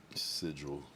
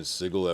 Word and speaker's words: sigil: Sigil like vigil sigil but that's what I was saying and I was like I feel like I was saying sigle at first but I think because